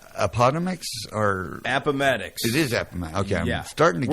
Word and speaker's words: Appomattox: It is Appomattox.